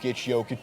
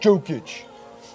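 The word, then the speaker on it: Jokić: years there's always one Nicola yic sorry jic yic do your research Jason it's not joic you're having a joke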